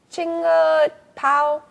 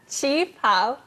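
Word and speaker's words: qipao: How do you say that word again? Chinga pao? Chi pao.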